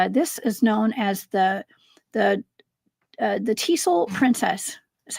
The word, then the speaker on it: Tisul: And this is known as the Tisul princess, is how you pronounce that.